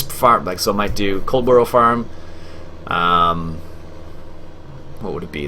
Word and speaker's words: Coldborough: It's been Farming Simulator 2015, playing on Coldborough Farm. Catch you. Is that the right way to say it? Cold? It is cold. Okay, not coal. Coldborough Farm.